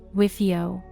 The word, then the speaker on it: WFIO: "We're fucked, it's over, it's pronounced WIFIO."